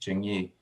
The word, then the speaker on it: Jingyi: the this that is the pronunciation of the name is is jingyi right if you have um